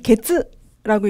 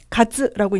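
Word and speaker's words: 月: 그래서 년은 그냥 말씀해 주시면 되고 그 다음에 월, 이거는 게츠라고 읽지 않고요. 가츠라고 있는 거 좀 주의해 주시고 그 다음에 날짜가 조금 어렵죠.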